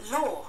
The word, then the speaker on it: law: Law. Law. Anh Mỹ. Law. Lo vừa vừa thôi. Anh nó lo nhiều, anh Mỹ nó lo vừa vừa thôi. Nói chung là lo chứ nó không có lao nha.